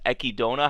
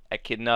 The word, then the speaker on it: Echidna: of the previous episode which apparently how you pronounce her name is ekidona how how she said i think i was pronouncing it like echidna or something like that but how she said